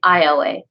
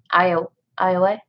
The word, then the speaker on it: Aoi: It's about this girl named Ioe. AOI. Ioe. I believe that's how it's pronounced.